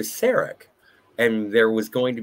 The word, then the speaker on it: Sarek: to replace Surak, because McCoy refers to Mrs. Surak as opposed to Sarek, and there was going to be some sort of situation between the pronunciation of Sarek and Surak.